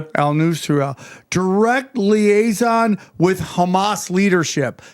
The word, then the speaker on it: al-Nusra: How how do you pronounce it? Al-Nusra. Al-Nusra.